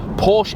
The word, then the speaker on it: Porsche: Only here in Britain, we've always called it Porsche. That's what I've called it for the last 35 years. And if I ring Porsche HQ over at Reading,